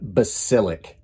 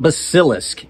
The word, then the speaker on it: Basilisk: I had a hard time getting down Basilisk. So editor Mike stepping in to tell you, yes, I mispronounced it in the outro, even with all that work. It is not Basilisk, it's Basilisk. It's a mythological creature.